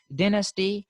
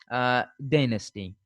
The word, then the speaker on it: dynasty: Like the Britishers say dynasty, while the Americans say dynasty.